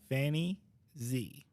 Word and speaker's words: Fanni Xie: Today's guest is Fanni Xie.